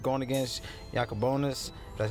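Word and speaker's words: Jakob Junis: Even though it's a 1 for 1 going against Jacobonis, that's how you pronounce it.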